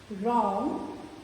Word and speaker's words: wrong: Right, wrong, whole. Here we are not getting the W sound of W. So the word begins with R sound, right.